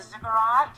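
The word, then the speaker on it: ziggurat: talking about uh kind of Stargates and the zigurat am I even pronouncing that right yes you are righty then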